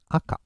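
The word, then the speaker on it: あか: always stop it okay Chinese style is shaky or Shaku Shaku is very rare usage and in Japanese it's acha acha means red and for adjectives we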